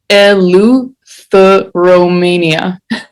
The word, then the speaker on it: Eleutheromania: And the way you pronounce it is Eleutheromania. And yeah, this is the CD.